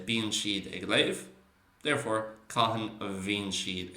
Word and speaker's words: léamh: Okay, so that mh at the end, and you obviously get that mh or dh or bh at the end of a lot of verbal nouns. They'll pronounce it oo, while a lot of other people might pronounce it with a more v sound.